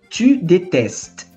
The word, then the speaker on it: détestes: Escreve com um Szinho aqui, mas a pronúncia é igual.